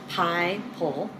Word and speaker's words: Pipel: It's pronounced Pie-Pole.